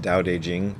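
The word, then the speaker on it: Tao Te Ching: even though it's spelled tau tae ching it's pronounced daodejing apparently when i was very first starting to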